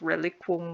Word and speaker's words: reliquum: And reliquum is just an alternate spelling of reliquum with Q-U-U. It's pronounced the same though, reliquum. The OM is just because they don't like seeing two U's next to each other.